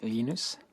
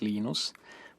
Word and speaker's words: Linus: Um, when I speak Swedish, it's Linus. When I speak Finnish, it's Linus. When I speak English, it's Linus. And I really don't care how people pronounce my name, but Linux is always Linux.